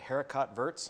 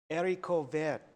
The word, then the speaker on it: haricot vert: I looked up how to pronounce. Oh, and how is it? I think you said haricot verts. And how is it? What is it? Haricot vert.